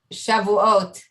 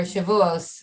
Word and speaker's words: Shavuot: upcoming next week is shavuot or shavuos which is maybe how more americans pronounce it which is translated the